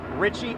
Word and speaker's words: Ritchie: Last name, Ritchie, Ritchie.